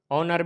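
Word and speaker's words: honour: इसी तरीके से ऑनर, ऑनर में ओ से पहले एच है तो एच साइलेंट हो गया है।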